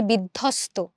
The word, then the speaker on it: বিধ্বস্ত: দেখো আমরা যখন বলি বিধ্বস্ত, বিধ্বস্ত, আমরা কিন্তু এখানে বফলা বলছি না, আমরা দ ধ বলছি।